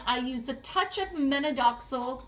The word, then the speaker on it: minoxidil: I stretch and I also use rosemary shampoo and I use a touch of menadoxil or uh menadoxil is how I pronounce it but it's minoxidil too.